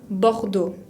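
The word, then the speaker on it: Bordeaux: de francia bajo todo termina con x que no pronunciamos y tiene la combinación de a y que se pronuncia o restringe a boudou recibí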